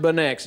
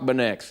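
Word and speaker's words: Beineix: know I B I looked it up it's pronounced benex John jock benex John jock benex so wait tell me what what what you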